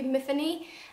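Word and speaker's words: Myfanwy: called Matheny Matheny um I think it rhymes with Tiffany so it should be Matheny and she wakes up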